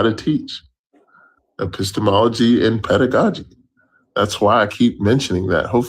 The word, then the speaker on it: pedagogy: What did I mispronounce? Epistemology? Pedagogy. and, It's pedagogy.